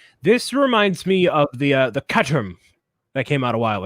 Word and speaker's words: Caterham: I think it's like Caterham. Caterham. Caterham. Yeah, that's the H is silent.